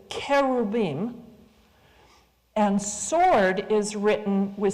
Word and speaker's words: cherubim: The I am is the masculine plural ending, so you don't need to add an S. An S is like saying geeses, right? Deers. It's just wrong.